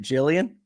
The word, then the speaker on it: Jillian: welcome to the show am I pronouncing your names correctly is that is it Jillian yes that is correct I love that I